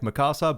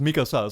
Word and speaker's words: Mikasa: name now correctly because all this time I've been pronouncing it like Mikasa, but it's clearly pronounced Mikasa, so I should try and actually stick to the way it's supposed to be said.